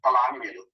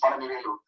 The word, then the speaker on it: Palanivelu: And most of the people in North India and US, they call him Palanivelu. They don't know the way we pronounce in Tamil, it's Palanivelu.